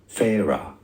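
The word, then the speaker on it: Feyre: an ad before it tells me the pronunciation character name from a court of thorns and Roses Farah phah honestly when I hear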